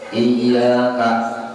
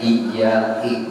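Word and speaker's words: إِيَّاكَ: Iyyaka dibaca iyyaki, hurufnya sama aja, cuma barisnya berubah, artinya pun jadi berubah.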